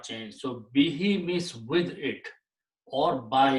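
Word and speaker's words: بِهِ: And when we recite in the tajweed, to make it easy on the tongue, we pronounce this dhamma as a kasra. Meaning does not change. So bihi means with it or by it.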